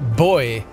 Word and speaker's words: buoy: all these buoys though I'm told that other accents pronounce that differently rather than buoy they pronounce it like boy like like it's like it's a a a small male child a boy which I think would